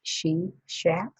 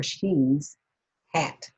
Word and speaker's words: Sheshat: And so it looks like she shat or shares or she's hat, either way.